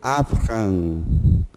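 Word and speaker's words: אַבְרָם: Você tem um patá, isso aqui se lê avram. Avram significa pai de um povo. É o nome de Abrão em português.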